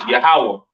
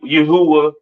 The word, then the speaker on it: Yahawah: so on right so the lord's name is yahawah not y Yahweh or or not Yahweh all right yahawah to the left of